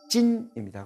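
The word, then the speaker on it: 晉: 근데 중국어는 서쪽의 진은 친, 이렇게 친 발음이 나고요. 동쪽의 진은 찐입니다.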